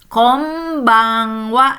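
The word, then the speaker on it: こんばんは: Iya, sama ya dalam bahasa Jepang juga kombang wa.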